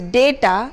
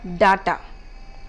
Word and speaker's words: data: The second word data is data and not data, as many of us pronounce.